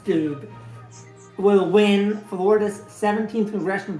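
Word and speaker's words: Steube: Reuters can predict that incumbent Republican Greg Stoibe, I think it's pronounced Stube, will win Florida's 17th congressional district over challenger Manny Lopez.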